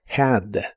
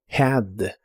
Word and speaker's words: had: La h de esta palabra igual se pronuncia como una j suave, lo cual es muy común en inglés, had. had.